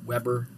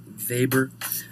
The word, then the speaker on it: Weber: had immigrated to America still pronounces his name in the Polish manner as opposed to Weber Weber gives us an image